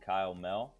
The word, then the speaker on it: Mehl: I'm also on LinkedIn, Kyle Mehl, a little bit funny last name. The H is silent.